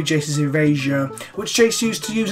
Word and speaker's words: Jace's Erasure: Now, Seth has a fun habit of mispronouncing cards. Here we have Jace's Eraser, which should be Jace's Erasure, which Jace used to